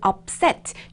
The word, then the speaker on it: upset: 자, 이번 문장에서 여러분들은 upset, 요 발음을 하실 때 up, p 발음, p, upset이라고 하는 거를 입술을 정확하게 지켜서 발음해 주시면 좋아요.